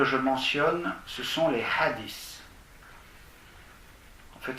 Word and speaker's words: hadith: Le premier que je mentionne, ce sont les hadiths. En fait, ça ne se prononce pas ce, ça se prononce hadith. Un feu, comme dans thin en anglais, maigre, T-H-I-N.